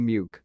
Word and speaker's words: Muke: The Corgi Muke, pronounced Mick, is named after Loch Muke on the Balmoral estate.